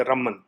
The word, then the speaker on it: रमन: लेकिन जब एक साथ आप नाम को पढ़ते हैं रमन, तो जो न है उसका उच्चारण 50% ही हम ले पाते हैं।